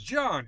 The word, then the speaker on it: Jahn: Some do, but I I pronounce it Jahn. It's Jahn. Just plain old Jahn. You spell J A H N. Yes, sir. But you say Jahn.